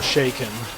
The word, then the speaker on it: Chakan: Well, apparently the author says it's Shay-Kahn or Shaken.